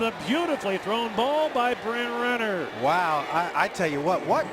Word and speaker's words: Bryn Renner: That was a terrible job of me pronouncing Bryn Renner's name. I kind of combined it for Brenner, but it's Bryn Renner.